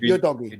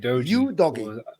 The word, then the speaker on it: Udogie: All the Serie A commentators they pronounce him you doggy.